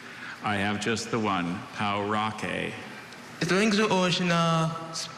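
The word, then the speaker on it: pauraque: Or is it any of the 20 pronunciations? I have just the one, Paurake.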